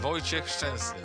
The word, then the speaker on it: Wojciech Szczęsny: Can you say it to the camera how you would pronounce your name? Wojciech Szczęsny. Wojciech Szczęsny. Wojciech Chesney.